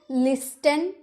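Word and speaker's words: listen: लिसन नहीं ना क्योंकि इसमें टी इ एन दे रखा है इसीलिए हम टी का उच्चारण नहीं करते हैं।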